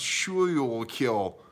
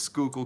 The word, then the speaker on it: Schuylkill: Schuylkill County because I know that it's not pronounced Schuylkill its Schuylkill County upstate New Yorker I know all about